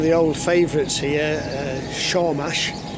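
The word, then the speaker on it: Sormás: Uh Shaw Mash. It's spelled Sawmas.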